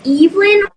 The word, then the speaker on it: Evelyn: the way uh yes um my name is pronounced Evelyn oh thank you that's cool and tell me